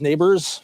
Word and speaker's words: Nabers: The one for the Giants, Neighbors. Perfect. 17 weeks. Yes, Malik Neighbors, whose name is not spelled the way you would think.